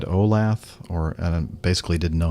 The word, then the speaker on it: Olathe: I think your pronunciation was just a hair off, a common mistake for Olathe, but nonetheless, the pronunciation is Olathe.